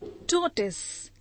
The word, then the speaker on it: tortoise: Tortoise, T-O-R-T-O-I-S-E, tortoise. Noun, a kind of turtle, kachua. A number of people pronounce this word as tortoise, but the correct pronunciation is T-O-R-T-O-I-S-E, tortoise.